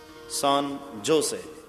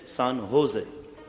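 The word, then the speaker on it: San Jose: तो अमे सुधार्યું કે કાકા सान जोसे नहीं, सान होजे। अरे पण ચોખ્ખો સ્પેલિંગ છે SANJOSE, सान जोसे। सॉरी काका, ज ने ह प्रोनाउंस करवानो, सान जोसे नहीं, सान होजे एम बोलवानो।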